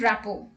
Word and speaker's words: rapport: T is not pronounced in these common words. Let's look at the examples. Castle, Christmas, fasten, listen, often, whistle, thistle, bustle, hasten and rapport.